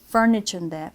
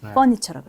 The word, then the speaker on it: furniture: 예를 들면 furniture인데 furniture라고 했어. R을 뺐어.